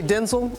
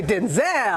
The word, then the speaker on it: Denzel: But the way we say we say Denzel. Denzel. That's the way it is now.